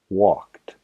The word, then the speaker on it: walked: Walk tiene la terminación, el sonido de k. walked.